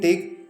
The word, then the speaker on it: take: Remember, in take there might be two vowels, but remember it e is silent here and it is only producing one vowel sound.